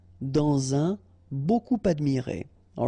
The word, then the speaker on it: dans un: Remember, when you will have this D, you will phonetically pronounce it like T. Quand elle, dans un, okay, in that case you've got this préposition